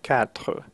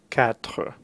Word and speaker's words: quatre: To pronounce these two syllables together, you can think of the word cat in English and then make the R sound in French, so quatre, quatre.